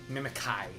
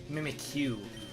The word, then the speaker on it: Mimikyu: I mispronounced Mimikyu for years. I can't mimic Mimikai. Mimikyu.